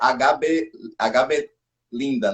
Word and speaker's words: H.B Lynda: Uma coisa, a pronúncia é HB Linda, né?